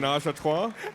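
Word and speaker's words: ménage à trois: I believe it's pronounced Well done. menage a trois.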